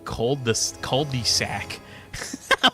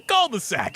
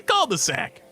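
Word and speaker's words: cul-de-sac: My friend's fiance from France absolutely lost it when he found out how Americans say cold sac. We Americans have been butchering language for ages. Cold sac. That's all you say. You're like, "Oh, where you live? In the culde-sac."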